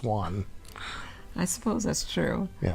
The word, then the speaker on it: Juan: It's like Juan. It's not Juan. It's Juan.